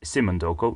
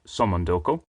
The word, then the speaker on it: Somondoco: Hotel real simondoko no I'm not pronouncing that wrong it is simondoko not somondoko is a winner with